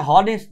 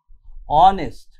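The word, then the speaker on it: honest: এখানে অ্যান বসছে এয়ার অনেস্ট অনেস্ট এটা হনেস্ট নয় অনেস্ট ঠিক আছে অনেস্ট তাই এটা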